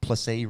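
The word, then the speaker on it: Plessis: um in that team placee rhymes with pepsi uh it's pretty [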